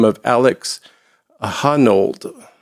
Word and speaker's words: Honnold: a gentleman by the name of Alex A Honnold.